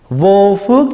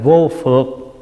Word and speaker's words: vô phược: hướng cái thứ 9 vô phước giải thoát hồi hướng xin lỗi đọc là vô phược chữ phương là gì chữ phượt là trói buộc thí dụ mình nói